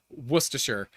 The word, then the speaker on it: Worcestershire: Like the internet says it's like wash your sister sauce or something because no one knows how to pronounce it. What is it? We just call it Worcester. Yeah, Worcester.